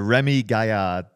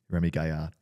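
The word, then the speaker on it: Rémi Gaillard: A Remy Gaillard video, that's my French pronunciation, Remy Gaillard.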